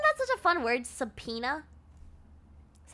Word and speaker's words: subpoena: Because why does it sound like that? English is such a shitty language, right? Like, subpoena, that's how you say that.